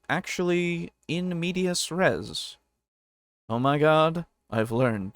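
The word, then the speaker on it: in medias res: In media rest, you just begin in the middle of the action. Why did you say in media rest? It's in media res, isn't it? That's how you say it.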